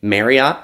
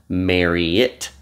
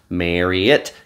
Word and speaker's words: Marriott: It is pronounced Marriott. Marriott, not Marriott. Marriott, kind of like the word chariot.